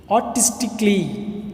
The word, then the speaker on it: artistically: Okay, களி இல்லை, artistically, கலை உணர்வு மிக்க, கலை உணர்வோடு அப்படின்னு சொல்லுவோம் இல்லையா, அதுதான் artistically. Then second one is logically.